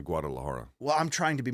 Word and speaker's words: Guadalajara: card in Mexico in Guada Laara as they pronounce it. So you can say the G in Guadalajara.